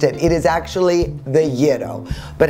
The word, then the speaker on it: gyro: Yes, for years I mispronounced it. It is actually the gyro.